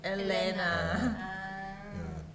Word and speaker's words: Helena: same pronunciation but actually in portuguese h doesn't pronounce anything so it's not that helena is elena but i like his